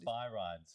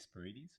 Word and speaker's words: Spyrides: But he can probably tell you about Spy rides. So that's how it's spelt, and but it's actually Spirides. But yeah, a lot of people go spy rides.